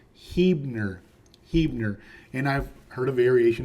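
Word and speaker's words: Huebner: your nose so don't do it it is pronounced heer heer and I've heard A variation of Huer but not whatever else that other stuff is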